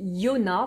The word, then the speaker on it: Yona: Au niveau de l'édition, si vous la recherchez, c'est chez Yona, voilà comme ça se prononce et à l'époque ça coûtait 12 €.